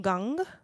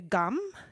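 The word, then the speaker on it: gam: style chanting um then i use this more back of the throat um pronunciation so i'm going to say om gang and i'm and then i'm ready to say ganapataye namaha right so a lot of people say gum and that's totally fine too like more like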